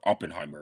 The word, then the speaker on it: Oppenheimer: At least with Oppenheimer, or Oppenheimer, if I want to say it correctly.